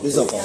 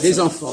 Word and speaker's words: les enfants: Les enfants. Les enfants. Oui, les enfants. Il y a une liaison.